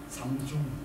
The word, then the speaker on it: 삼성: 독일 사람들은 읽는 방식이 달라서 삼중 이렇게 부르는데, 근데 독일에 출시를 해놓고